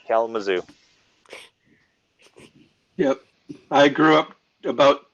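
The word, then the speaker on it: Kalamazoo: in Hallelujah next3 and yes William you you pronounce it right K Mao yep I grew up about two M two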